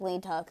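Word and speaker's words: Leeteuk: put else's name well I think it's actually pronounced like Lee Teuk though I think it's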